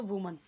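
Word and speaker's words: women: दिखाइए, क्या करना है, वीमेन कर देना है उसे, वीमेन। प्रोनाउंसिएशन भी डिफरेंट हो गया इसका, और क्या डिफरेंट हो गया, स्पेलिंग भी, यहाँ पे एस नहीं आएगा।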